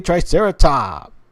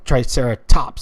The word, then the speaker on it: Triceratops: Hey, hey, Triceratop. Or Triceratops.